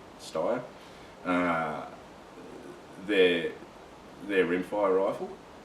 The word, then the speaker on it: Steyr: I had a look at I think the proper pronunciation is Steyr.